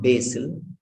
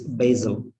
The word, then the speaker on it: basil: to this second sound wherever s is there s will be pronounced as a z remember that s will be pronounced as basil it's not basic it's not basil it's basil basil this is pronounced or